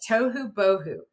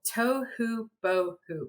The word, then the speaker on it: tohu bohu: First, we're going to analyze it on the syllable level. Tohu bohu. We have 4 syllables in that word. Lots of phonemes when we're breaking down those syllables, but we have some repeating phonemes, right? To, so we have to, oo, ba, o, oo. Tohu bohu.